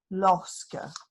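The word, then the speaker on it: lorsque: i'm going to say that study the word it's spelt l-o-r-s-q-u-e losca so i'm going to study the word i'm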